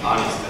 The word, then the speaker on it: honest: To be honest，什么叫 To be honest？ H O N E S T H 不发音。什么叫 To be honest？